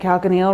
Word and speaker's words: calcaneal: telling you is that calcaneal rhymes with heel and it's your heel which rhymes with popliteal which is the back